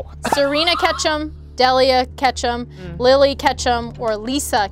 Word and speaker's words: Delia: - But it's pronounced- - It's Pronounced, De-Lilly.